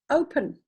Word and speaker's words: open: Why does the O say its name in the word open? Why is that not open? Open Gangnam Style. Why is it not open? Because the O is at the end of the first syllable. The P belongs to the second syllable. Split them up like that, and you have now got an open syllable.